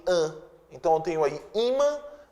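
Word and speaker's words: ímã: Então, eu tenho aí imã e ofan. Palavras paroxítonas terminadas em an são acentuadas. Imã, sílaba tônica é o i, ofan, a sílaba tônica é or.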